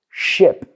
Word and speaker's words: ship: So people say, for example, if you look at two words, sheep and ship, es una sílaba. Pero ¿qué pasa? Mucha gente, el sonido vocal no lo tiene. So, lo que he notado, las palabras cortas son las que cuestan más.